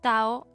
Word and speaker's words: Tao: también todavía se usa Tao Y taoísmo de cualquier forma con t o con d se pronuncia tao el taoísmo es una